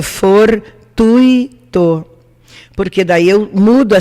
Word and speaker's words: gratuito: separação silábica é gratuito não se diz fortu ito o correto é for tuitou porque daí eu mudo